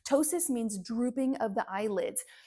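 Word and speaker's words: ptosis: It's spelled with a silent P at the beginning. Kind of like pneumonia and pterodactyl, right? Tossis means drooping of the eyelids.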